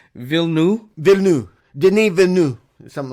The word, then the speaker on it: Villeneuve: It's like Villeneuve. It's like Villeneuve or something like that. We're really wrong. Like, we're not even close. So, like, there's a missing syllable? It's just like Villeneuve?